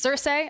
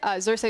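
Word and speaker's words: Xerxe: always say his name gonna say it it's Cersei Cersei is one of our best junglers in the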